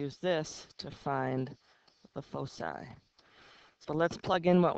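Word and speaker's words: foci: call those points Focus points um plural is pronounced fosi f o c that's the plural of focus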